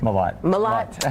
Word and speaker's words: Mellott: Mellott.